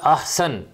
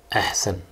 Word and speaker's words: احسن: لفظ ہوتا ہے احسن، یہ بولتے ہیں احسن.